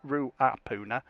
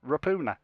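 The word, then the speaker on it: Ruapuna: new zealand people and they call it rapuna park it's not ru apoona it's rapuna and if anyone says different then pronouncing it wrong that'll be an interesting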